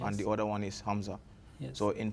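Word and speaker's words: ء: like Ain from the throat, and the Hamza is not pronounced from the throat. It's just pronounced like Alif.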